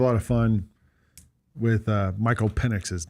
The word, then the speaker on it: Penix: I said Michael Penix. It's Penix. All right, CJ? Listen, all I know is however you want to pronounce it, Penix is explosive.